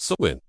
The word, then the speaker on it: Samhain: their most sacred nights, Samhain, pronounced Samhain.